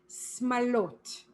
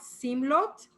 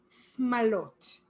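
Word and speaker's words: שמלות: And this one, when turning into plural, the vowels shift, as we've seen before. And for plural, it's smalot. Not simlot, smalot.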